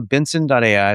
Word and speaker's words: BNSN.ai: Uh but also Benson.ai. So it's it's pronounced like my last name Benson. It's just Benson without the vowels.